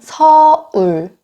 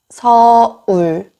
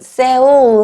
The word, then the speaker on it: 서울: 굉장히 발음이. 네. 다음은 서울. 서울. 서울. 어떤 분들은 세울 하시는 분들도 있어요.